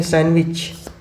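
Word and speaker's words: sandwich: Question number 74, लिखते हैं सैंडविच लेकिन पढ़ते हैं सैंडविच पढ़ते हैं। तो डी इसमें आ रहा है? कहीं नहीं आ रहा। Option number D, सी इज the correct answer. D इसमें नहीं है, डी साइलेंट है।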